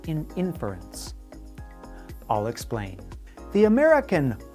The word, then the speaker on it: inference: exploration of common scientific terms today's word is inference an inference is some kind of opinion or